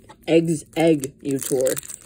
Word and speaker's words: Exeggutor: Exeggutor.